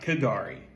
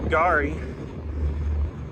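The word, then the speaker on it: K'Gari: tours and I did learn that it is pronounced gari not kagari U it is the indigenous name of uh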